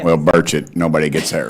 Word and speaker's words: Burchett: Well, Burchet, nobody gets that right either. I was on some show this weekend. I said, "It's birch like the tree and like I just ate breakfast."